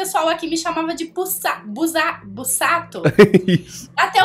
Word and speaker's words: Busato: duas consonantes ali, consoantes, o S tem o som de Z, né? Então é Busato, gente.